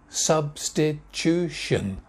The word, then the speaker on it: substitution: free kick next word substitution substitution four syllables main stress substitution substitution substitution next one similar to